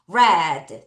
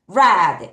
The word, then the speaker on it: read: 어떤 단어에서는에 발음이 나기도 하는데 여기서는 발음이 애바음으로 나는 거예요. 자, 따라하세요. 다시 뭐예요? red 다시 red 읽었다.